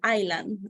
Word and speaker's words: island: eastline English Iceland the yes is mute so we say island island okay and in this